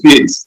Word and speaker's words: Feeles: Clear up the surname pronunciation for me. I don't want to mess up. Yeah, it's Feeles.